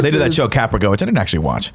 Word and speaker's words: Caprica: I also want to applaud you for your pronunciation of caprica. You said caprica, which I like. It's like paprika.